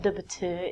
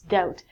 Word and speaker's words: doubt: It looks like doubt. It's not doubt, it's doubt.